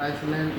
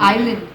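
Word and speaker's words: island: on house on एंड आइसलैंड इन आइलैंड आइलैंड हां S silent है S silent हां एस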